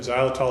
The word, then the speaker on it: xylitol: aren't familiar with it xylitol is actually spelled with an x pronounced with a z let's do some homework